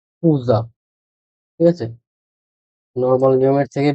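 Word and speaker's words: Cousin: কাজীন যেটা সেটা সেটা কিভাবে বলে শুনেন খুজা খুজা খুজা ঠিক আছে নরমাল নিয়মের থেকে ব্যতিক্রম আর পরেরটা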